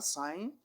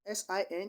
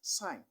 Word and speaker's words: sin: their short forms are sign which is s-i-n is not a sin is not pronounced as sin this is pronounced as sign s-i-n though this spelling